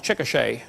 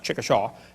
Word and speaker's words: Chickasha: 2005 textbook, and I pronounced it wrong as Chickasha, not Chickashaw, Chickasha, Oklahoma. I got corrected during the break.